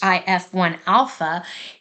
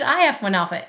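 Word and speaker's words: HIF-1α: should just call it hi1 Alpha h1f I I can't say it like that because it's hi F1 Alpha anyways hypoxia inducible Factor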